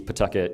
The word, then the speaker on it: Pawtucket: We we pronounce it Pucket. It's like a P apostrophe. Pucket.